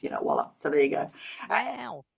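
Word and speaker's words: voilà: Yes, and this is, of course, a mispronunciation of the French word voila, meaning behold, and this is pronounced, voila.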